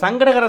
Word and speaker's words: சங்கடஹர: நிறைய பேர் சங்கட சதுர்த்தின்னு மொட்டையாக சொல்கிறாங்க. அப்படி சொல்லவே கூடாது. சங்கடகர நம்மளோட சங்கடங்களை தீர்க்கக்கூடிய சதுர்த்தின்னு அர்த்தம். சங்கடகர சதுர்த்தின்னு முழுமையாக சொல்லுங்கள்.